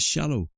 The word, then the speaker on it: shallow: And then our little noise of pain gives us a W, and that gives us shallow. So we have ow here, but it's actually pronounced O.